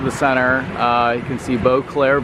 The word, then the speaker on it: Beauclerc: You can see Beauclerc Village. The C is silent, and we are right on San Jose Boulevard.